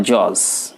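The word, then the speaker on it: judge: ওকে, তাহলে বলবেন আমার জজ, এই জজ শব্দটার উচ্চারণ করবেন আমার জাজ।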